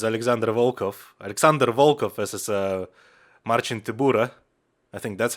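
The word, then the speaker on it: Marcin Tybura: next up is alexander volkov alexander volkov versus a marching tibura i think that's how you're supposed to pronounce it hang on i'm going to google it yeah marcin tibura uh in in uh in polish uh to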